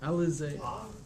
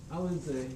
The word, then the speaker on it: Alizé: How do you spell it? ADIZE. A-L-I-Z-E. Alizé. Alizé.